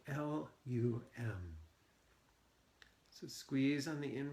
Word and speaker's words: Lum: of the Mantra Lum it's sounds like it's spelled l u m so squeeze on the